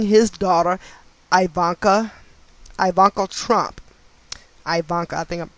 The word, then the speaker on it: Ivanka: property scandal involving his daughter ivanka ivanka trump ivanka i think i'm pronouncing her name incorrectly but it's i-v-a-n-k-a ivanka